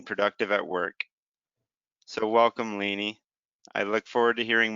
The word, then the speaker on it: Lanie: treatment while remaining productive at work so welcome lainey i look forward to hearing more about you